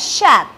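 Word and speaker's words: chatte: Shat is the feminine cat, where we have E in the end, which is a vowel, and we will give this, it will give the sound. So this will be pronounced as shat.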